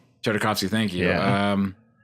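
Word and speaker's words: Tartakovsky: going to do the noncanon Clone Wars by Dratowski or I'm mispronouncing his name, just to mess with us like that like a big curveball. That's that would be a good one. Um, damn. Tardikovski.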